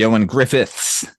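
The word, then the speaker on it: Ioan Gruffudd: And then obviously the Ioan Griffiths. That's how you pronounce that. It's Welsh, friend.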